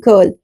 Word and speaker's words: girl: And yes, there are exceptions like gift and girl, where letter G holds onto its hard sound.